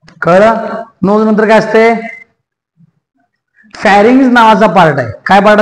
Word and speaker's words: pharynx: ह्याच्यानंतर जे आहे ह्याला म्हणायचं फॅरिंग्स. म्हणा फॅरिंग्स. फॅरिंग्स तुम्ही उच्चारण चुकीचे म्हणताय म्हणून पाठ करून घ्यायला लागले. फॅरिंग्स. फॅन्ड्री मधलं फॅ, रिंग्स, रिंग्स. ओके.